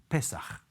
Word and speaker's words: Pesach: The word in Hebrew for Passover is Pesach. If we slash the word Pesach into two syllables, we find that the message that underpins Passover is so important, so crucial.